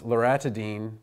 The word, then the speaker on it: loratadine: But in drug names, spelling is incredibly important because you pronounce loratadine the same as you pronounce famotidine. And the T-A-D-I-N-E, and the actual stem is A-T-A-D-I-N-E, sounds just like the tidine in the H2 blockers.